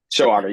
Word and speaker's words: Shoaga: Shoaga, if I'm pronouncing that correctly, or is it one syllable? Or You got it, two or Your Honor. three syllables? Showaga, you got it.